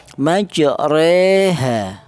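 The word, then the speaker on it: مجريها: Cara bacanya majreha ya. Apa majreha? Yaitu dibaca imalah. Artinya imalah yaitu mendoyongkan harokat fathah ke kasroh. Jadi tidak terlalu fathah juga tidak terlalu kasroh. Bukan ro juga bukan ri tapi re, majreha.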